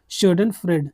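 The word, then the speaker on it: Schadenfreude: Stand फ्रॉड करके इसका कुछ इसे बोलते हैं शोडन फ्रेड।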